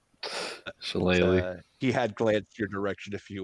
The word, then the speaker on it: Shillelagh: I know that she likes to cast Shalag. Yes, I know I'm mispronouncing that. Shillelagh.